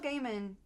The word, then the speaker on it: Gaiman: what's brilliant because Neil Gaiman is it Gaiman or Gman I I pronounce it gaim okay Neil Gaiman also